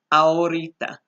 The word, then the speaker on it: ahorita: the word vienen and ahorita. Now remember, the H sound is silent, so we act like it's not even there in this case. So if just with that word, it's ahor, ahorita, ahorita.